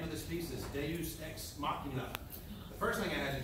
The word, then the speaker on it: Deus Ex Machina: The name of this piece is Deus Ex Machina. The first thing I had to do was learn how to pronounce it. I think the first way I pronounced it was Deluxe Ex Mechanic.